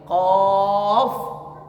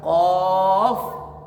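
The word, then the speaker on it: ق: Kyai Bismillahirohmanirohim tapi cara bacanya bukan tapi off begitu ya qof Orang baru belajar namanya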